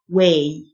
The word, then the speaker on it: weigh: محدد specific specific يزن way الجه silent way وزن weight الجه